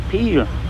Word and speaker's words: Peel: Now, a stockade or fortress in the Norse means a peel, and you spell it P-E-E-L-E, and they say that's how Peel got its name.